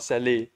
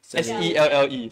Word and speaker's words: Selle: Cell, how do you pronounce Cell or Selle? S-E-L-L-E, Cell.